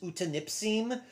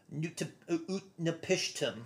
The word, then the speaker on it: Utnapishtim: So the wrong way that I have always said his name is Utanipsim. I believe the correct pronunciation, or at least a better pronunciation of it, is actually Utnapishtim. There you go. Utnapishtim. That's what Google told me is the correct translation.